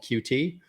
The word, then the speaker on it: Qt: a platform framework called qt or cute it's actually pronounced cute but I could not bring myself to say that um and QT has